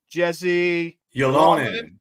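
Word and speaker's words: Jesse Ylönen: You say it because I can't pronounce it. Jesse Yolonen.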